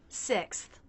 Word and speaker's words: sixth: We start with the S sound, tongue tip down, teeth together. S. Then the I as in sit vowel with a little jaw drop. Si. Now we have the K, S, and TH sounds together. They're all unvoiced, so we're just passing air through, no engagement of the vocal cords.